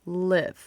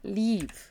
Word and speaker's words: leave: Ó, cuidado com a pronúncia também desse leave, porque, ó, essa palavra aqui a gente fala com o som um pouco mais fechado, ó, live, ok? Live. E esse daqui a gente fala leave, ok?